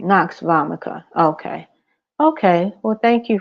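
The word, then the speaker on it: nux vomica: CA a c a vomica no voma right Knox vomica okay okay well thank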